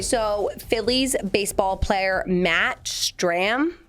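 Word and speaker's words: Strahm: So, Phillies baseball player Matt Stram, I'm going to say that's how you pronounce his last name cuz there's an H in there that doesn't belong.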